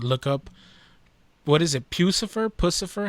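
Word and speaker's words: Puscifer: Pucifer? How do you pronounce it? Pucifer.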